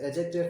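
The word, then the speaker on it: adjective: Noun phrase है, preposition phrase है, एडजेक्टिव phrase है, इसमें डी साइलेंट होता है, एडजेक्टिव नहीं होता, एडजेक्टिव फ्रेज है, एडवर्ब फ्रेज है, वर्ब फ्रेज है।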